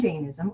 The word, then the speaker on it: Jainism: They have this philosophy, and it's inherent in Hinduism, Buddhism, and Jainism, or Jainism, you can pronounce it either way.